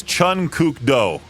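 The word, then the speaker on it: Chun Kuk Do: I believe it's Chun Cukdo.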